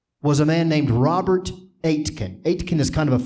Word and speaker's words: Aitken: n as in Nancy it's pronounced like eight like the number eight and Ken is in your next of Ken so Robert Atkin Robert akkin I wanted